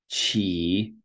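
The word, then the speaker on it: 骑: So this one, qi, which is to ride, as in to ride a horse.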